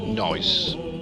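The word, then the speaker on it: gneiss: the top GNE OSS most people pronounce it noise how you pronounce I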